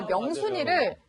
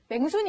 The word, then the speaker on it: 명순: 경상도 사람이다 보니까 명순이를 맹순이 이렇게 발음을 하는 거예요.